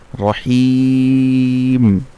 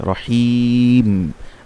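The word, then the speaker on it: الرَّحِيم: আবার যদি সেই জন্য মধ্যে আরজি হলে 3 আলিফ কি হবে, রহিম, মিমটা শেষে মিমের উপর জজম হয়ে যাবে, রহিম, আর এর কারণে সেটা 3 আলিফ হবে।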